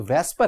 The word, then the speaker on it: VSEPR: वेस्पर theory, पहली बात कि ये जो वेस्पर है, वैसे देखेंगे तो स्टूडेंट लिखा हुआ है VSEPR, वेसेपर, लेकिन आप इसे प्रोनाउंस क्या करेंगे? आप इसे प्रोनाउंस करेंगे वेस्पर, तो वैसे वेसेपर है।